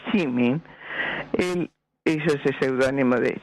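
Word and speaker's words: Szymin: David Seymour, que su verdadero apellido era Chimin, sí, y como se pronunciaba de una manera especial, porque era una SZY, lo que empezaba, Chimin, y se pronunciaba Chimin, él hizo ese seudónimo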